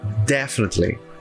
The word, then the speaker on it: definitely: a sílaba mais forte em inglês o som mais forte é logo o primeiro som então é definitely definitely então definitely tá